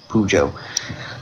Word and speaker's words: Pujo: And the last name is spelled P as in Peter, U-J-O, Pujo. So it's an Albanian last name.